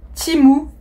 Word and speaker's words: Temu: aujourd'hui pour un hall timu temu alors ça s'écrit temu mais ça se prononce timu pour information j'ai passé